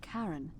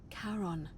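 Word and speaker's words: Charon: it's just as you described it only your pronunciation is a little off the name you heard wasn't Karen it was c h a r o n as in Kon the Fairman of the Dead Kon or exchange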